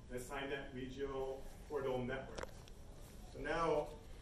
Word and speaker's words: SEINet: And that's what came about what we call the SEINet Regional Portal Network.